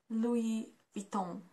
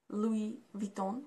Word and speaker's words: Louis Vuitton: it is pronounced like Louis Vuitton do we beat them why because it's again French and we pronounce it like Louis Vuitton not Louis Louis and